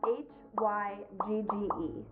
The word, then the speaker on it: hygge: guide this week and the book tells me that it's pronounced hygge hygge hygge roughly translates